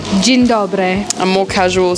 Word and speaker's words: Dzień dobry: Dzień dobry. Dzień dobry.